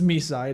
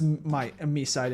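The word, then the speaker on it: MiSide: Even though we found out that it's pronounced me side according to the English dub of the game.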